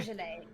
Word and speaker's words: Beaujolais: I've heard it pronounced Beaujolais By whom? by sommeliers. Bougie lady. No. Let's just call it Yeah, bougie. because it's Beaujolais. Beaujolais is the region of France.